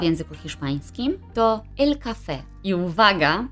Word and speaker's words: café: I uwaga, żeby nie powiedzieć el cava albo cava, bo to zależy wszystko od tego, jak wymawiamy UB, czyli nasze V. Możemy je wymówić zarówno przez B, jak i przez W, a wyraz ten oznacza szampan lub wino musujące.